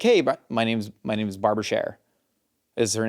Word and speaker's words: Scherer: And so literally she's like, no, our last name is Cher, not Scherer. And I was like, that's crazy. And then some people pronounce it Scheer because it's just a German name.